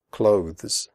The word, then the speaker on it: clothes: The final sound is a the followed by an s. Clothes. If this is difficult for you, just pronounce it like close, as in close the door.